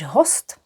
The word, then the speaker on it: host: Gora host. When will our guest arrive? And remember we pronounce it host.